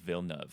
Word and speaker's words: Villeneuve: his french name oh so it is denis vilnev apparently because the french do not know how to use vowels or letters or numbers or anything really the